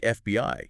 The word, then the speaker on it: FBI: word right right and initialism like FBI you say each letter okay okay got it